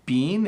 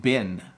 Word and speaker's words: been: the second one being we actually say bean and bin and it it's kind